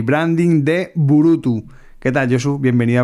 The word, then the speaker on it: Burutü: O cómo lo pronuncia efectivamente lo has dicho muy bien es burutu eh tiene eh la dificultad de pronunciación eh que tiene una diéresis al final dos puntos sobre Lau y de hecho alguna